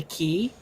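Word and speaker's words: Cay: books is called the key um and it's spelled uh k c a y but it's actually pronounced key because like the for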